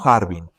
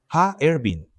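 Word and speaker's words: Harbin: Ervin, no Harvin, ya que son tres sílabas. Ha, Ervin.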